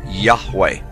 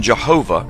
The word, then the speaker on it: Yahweh: most often rendered as Yahweh when written or spoken by Christians and others. It is still never pronounced aloud by Orthodox Jews. The pronunciation Jehovah is an older, less accurate rendition of these letters.